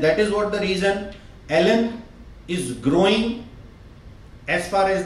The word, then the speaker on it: ALLEN: So if we pronunciate L N, then this word A-L-L-E-N is came from Ellen.